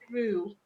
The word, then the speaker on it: jarul: It's pronounced as Jarul, which is a Jarul. tropical Asian tree which bears large clusters of purple or white flowers.